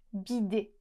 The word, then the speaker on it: bidet: La combinazione di lettere -ET alla fine produce il suono /e/. e se fosse stata una parola italiana, sarebbe stato sicuramente scritto con un accento acuto. "Bidé" Ma forse non sapete da dove deriva questa parola?